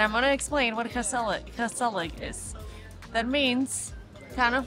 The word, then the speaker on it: gezellig: Dutch words to know, and that word is gezellig.